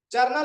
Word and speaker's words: जर्नल: यहाँ पे जर्नल का उच्चारण जे से किया जा रहा है लेकिन उसमें जनरल का उच्चारण जी से किया जाता है।